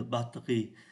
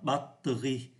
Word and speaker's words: batterie: Danh từ batterie được phát âm thành hai âm tiết. Chúng ta không phát âm ký tự ở giữa. Thay vì đọc là battery, thì người ta phát âm là batterie.